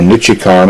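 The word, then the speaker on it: Nichicon: a 10 microfarad 35 volt electrolytic made by nichikon i believe is the correct pronunciation to start out with this particular capacitor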